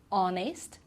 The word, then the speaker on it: honest: So for example, the first one is our, okay, so we don't pronounce the H, honor, honest, and air as well.